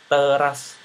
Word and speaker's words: teras: itu dihadiri peran pejabat teras Bank Indonesia teras Bank Indonesia Nah pengucapan kata teras itu sendiri sama dengan pengucapan kata kecap kecap ini nanti teman-teman